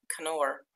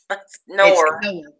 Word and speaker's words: Knorr: Knorr. Knorr. For real. You K is solid.